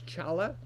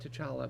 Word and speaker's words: T'Challa: By the way, I always thought it was Chala, because somebody said, when I was a kid, I thought it was T'Challa, and then somebody said, no, it's pronounced Chala, and then in the movie they pronounced it T'Challa, but we can debate that too.